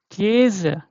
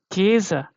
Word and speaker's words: Käse: Yeah, so this is called Käse, Käse. Yeah, Käse. Yeah, so this is long, you can see very easily, right?